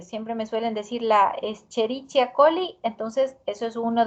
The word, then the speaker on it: Escherichia: pero nosotros la la palabra del género lo pronunciamos como escherichia un primer caso e se suele ver también